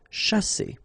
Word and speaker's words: chasser: sh, sha, and then here you've got a double S between the two vowels, so the S is really strong. S. Chasser.